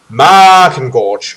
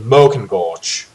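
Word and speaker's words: Maakengorge: I'm unsure in English, should I pronounce that like a drawn out A, like a, in this case of this word, Markengorge, or as an O, as in Mokengorge. That would be Ma in English.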